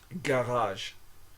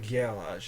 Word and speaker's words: garage: Gage Gage like your garage okay I guess garage is a French word garage garage it's not Gage it's garage okay so G plus a